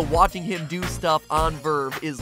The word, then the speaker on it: VRV: that isn't just Anime it's called Verve and it's spelled vrv which is kind of stupid